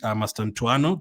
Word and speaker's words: Mastantuono: You could also go for his teammate, Mastantuono. That's how you pronounce it.